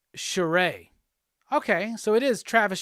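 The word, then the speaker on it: Charest: choose the sign of you anyway yes it's pronounced charay okay so it is Travis Sharay thank you David Finch clarified it in a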